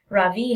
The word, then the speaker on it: Ravi: the wedding is off Ravi has his hand up yes Ravi says mrs. bean I noticed she says his name right for the first time with the accent on the second syllable could you please tell